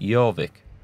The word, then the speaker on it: Jorvik: And apparently the Vikings couldn't pronounce that when they conquered it, so they called it Jorvik.